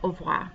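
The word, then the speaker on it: au revoir: really fast so it is technically au voi but when they say it it comes out more like auvr you don't hear that ra a lot so you have bonjour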